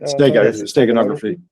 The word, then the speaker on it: steganography: there's been rumors uh new discoveries of um steganog steganog, how do you say it? Steganography.